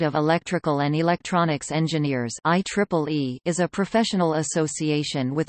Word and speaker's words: IEEE: simply referred to by the letters IEEE, pronounced IEEE, except on legal business documents.